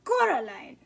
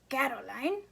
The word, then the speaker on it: Coraline: name wrong you know they keep saying coraline not caroline not caroline at all he picked up a